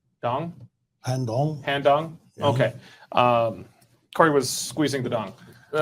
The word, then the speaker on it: Han Dong: Han Dong?